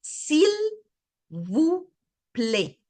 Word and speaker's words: s'il vous plaît: So the AI here, both of them make the sound of A. And this will stay whenever you see an AI together, it's always an A. Okay? S'il vous plaît.